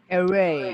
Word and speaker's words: array: sebenarnya pronunciation-nya bacanya apa tuh? Array. Array. Ya, bacanya array ya.